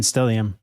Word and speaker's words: stellium: yeah what is that what does that mean stellium stellium is an astrological term uh when you